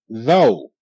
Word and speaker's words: though: donut right there yes though th o though GH is silent OU normal sound for OU is Ow like in M Mouse and H house house and this case the o u is making a long o sound o so it's th